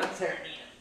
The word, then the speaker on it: Tyranena: Tyranena? Tyranena, yeah.